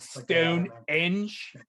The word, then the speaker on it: Stonehenge: actual size isn't it stone eng stone eng is how they say it over there that's that's